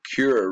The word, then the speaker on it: Kura: And the Kura River is, although it's spelled with a C there, it's going to be a K here.